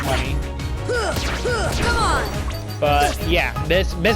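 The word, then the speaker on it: munny: It's like moony, like moon, or however you would pronounce it with a U. But rest assured, they still call it money.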